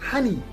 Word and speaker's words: honey: of words we have the first one is honey in honey we do pronounce the letter h honey is spelled as